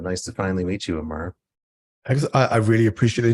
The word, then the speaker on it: Aamar: and uh have a guest um is it Amar is that how you pronounce it that's right yeah Amar is correct okay uh from London who uh